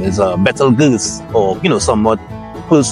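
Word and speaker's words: Betelgeuse: FYI for a lot of people the actual pronunciation is a BAL G or you know somewhat close to that pronunciation and not actually Beetle Juice as you know it's commonly now pronounced so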